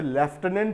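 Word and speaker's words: lieutenant: जैसे लेफ्टिनेंट में F कहीं नहीं होता, लेकिन F का उच्चारण वहाँ पर निकलता है।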